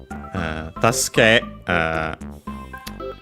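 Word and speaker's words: 助ける: was referring to uh tasku it's accented okay so was correct notice that in of the sue it's between a voice consonant so barely heard if at all task uh uh task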